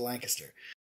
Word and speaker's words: Lancaster: say there's a hidden G in there between the N and the C so you get that lang aspect and then histor it's like k IST ER so lancaster so first off tell